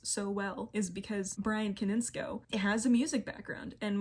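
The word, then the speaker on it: Konietzko: names to note are michael dimartino and brian kaninsky koninsko i've been saying his name wrong koninsko they've roomed with the track team the track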